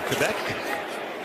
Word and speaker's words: Quebec: Up in, as you say, Quebec, which is the correct pronunciation.